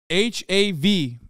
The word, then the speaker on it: hav: bit of a difference but hav is how you say the bark in Turkish ah yeah yeah